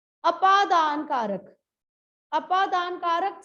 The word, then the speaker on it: अपादान: चल, next is अपादान कारक। इसको एक तो आपादान नहीं कहना, ये आपादान नहीं है, अ है, आ नहीं है। आपादान नहीं है, अपादान है।